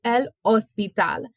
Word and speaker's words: hospital: it is in Spanish we just do not pronounce the h so l ospital which is hospital then